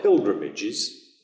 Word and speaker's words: pilgrimage: influence of french so a word like pilgrimages which is the modern english word pilgrimages but in middle english the g is soft so it's more pilgrimage which is much more like you would say it in france uh